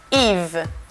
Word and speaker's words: Yves: Y en realidad, primero, si tomamos su nombre, es Yves. Yves. Hay una S, no sé qué hace ahí esta S, pero no se pronuncia, así que Yves.